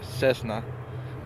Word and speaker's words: Cessna: I always say it wrong I know it's Cessna but uh I always pronounce it wrong but now I know how